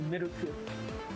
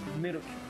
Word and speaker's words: Miruku: It's actually Miruku. Miruku. Miruku. Like saying milk with a ku at the end.